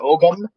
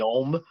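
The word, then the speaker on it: Ogham: the Om script or Ogum. I heard it's properly pronounced with a silent G, so it's like the Om.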